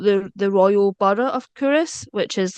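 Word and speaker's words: Culross: filmed in curus um I grew up call K Ross because that's just visually what that that word looks like but it's pronounced cus and it's a really it's one of these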